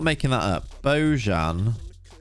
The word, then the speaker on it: Bojan: possible he's gonna reverse beaujon he has beaujon what a strange footballer boyan you say his name properly always looks sad as